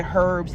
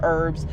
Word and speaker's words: herbs: L in it and I pronounce the h when I say herbs instead of herbs so like yeah I'm